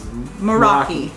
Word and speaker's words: Moeraki: thing America at boulders the correct pronunciation is Meraki moeraki bolders so we went out